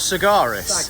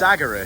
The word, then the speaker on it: Sagaris: Is it saguras, not cigarist? Sagaris. Sagaras. It's actually I've been saying it wrong all these years. Well, I always did as well, but until you get more acquainted, it's Sagaras because it's an I think it's a medieval battle axe.